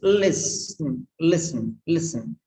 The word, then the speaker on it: listen: Okay, listen. No sound. No sound. It's listen.